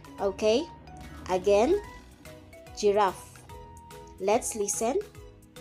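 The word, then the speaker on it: girafe: giraffe which means giraffe it is a soft pronunciation if it is in front of e i or y okay again giraffe let's listen giraffe giraffe for heart j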